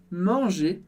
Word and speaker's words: manger: De novo, em commencer você percebeu que ER termina em E, e a gente pronuncia simplesmente E no final.